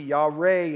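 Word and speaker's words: יָרֵא: the word and the hebrew equivalent is y-a-r-e y'all re is how it's pronounced and it's the same idea and it's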